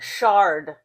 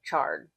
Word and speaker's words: chard: Shard. I call it shard, but it's pronounced like charred.